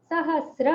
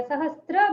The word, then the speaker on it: सहस्र: लेखन के कारण से, सहस्र है एक्चुअली ये, आजकल लोग ना पता नहीं उनको क्या हो गया, सहस्त्र बोलने लगे हैं।